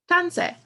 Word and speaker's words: tanse: So yeah, the first word I'm going to teach you is tanse. Pronounced tan, se. Tanse.